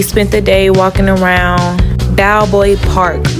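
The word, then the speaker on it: Balboa: Diego where we spent the day walking around Bowboy Park. B A L B O A. I hope I'm pronouncing it right.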